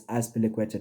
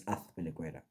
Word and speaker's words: Azpilicueta: Now people say it's Azpilicueta. No, it's not, fam. Z in Spanish is pronounced TH, so it's Azpilicueta.